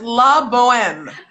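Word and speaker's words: La Bohème: ridiculous but so that's la boheme she said the h is silent honey all right did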